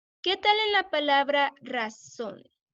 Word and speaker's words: razón: Ra, hay dos sílabas ahí, razón. ¿Cuál es la sílaba más fuerte? ¿Cuál es la que pueden escuchar más? Razón. ¿Razón? ¿Se dice razón o se dice razón? ¿Qué piensas, Andy? ¿Sería ra o sería son? Son, sería son.